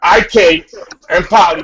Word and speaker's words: IK Enemkpali: know we talking about a fourth round linebacker ik and P that's that's how you say his name goes